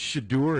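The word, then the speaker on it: Shedeur: Shader? Is that how you pronounce Shadeur. it? Shadeur? It's Shadeur and Shiloh.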